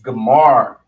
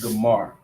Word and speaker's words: Gomer: Our first character is Ga. Ga. Then we see Ma. And then we have the R, so we know that Ra is there. We're going to connect the Ma and the Ra. It's going to make Mar. And then the Ga is separate, which makes Gamar.